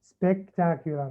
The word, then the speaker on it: spectacular: One, two, three, four. 4 syllables. Spectacular. Spectacular. All right, very good. So 4 syllables.